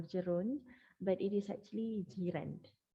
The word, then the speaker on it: gerund: that we call zerand i've heard people pronounce this as gerund okay but uh or geron but it is actually girand like your neighbor in malay language jiren so